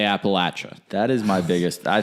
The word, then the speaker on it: Appalachia: like a sore thumb you will never say Appalachia always they say Appalachia that is my biggest